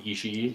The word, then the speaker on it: Ishii: Tomohiro Ishii? The Ishii. Ishii's probably fought almost. Is that how you everyone.